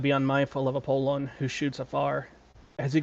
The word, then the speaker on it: Apollon: And in Greek, it's actually pronounced Apollon, as the way to pronounce it in Greek. So you can correct me if I'm wrong. And in Roman, it's still Apollo.